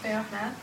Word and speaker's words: Fermat: Pierre de Fermat. Sure. So, I'll just say Fermat. So Fermat's last theorem, has anybody heard of Fermat's last theorem, one of the millennium? Of course I have. The millennium problems? Fermat's last theorem, anyway, look it up.